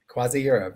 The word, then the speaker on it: CroisiEurope: with, tell me if I'm saying it right, CroisiEurope? CroisiEurope, yes.